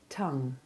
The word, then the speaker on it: tongue: Peg, pig, pregnant, signature, argue, argument, plague, vague, fugue, tongue. Now you say those words. Noting the unexpected pronunciation of the letter O in tongue.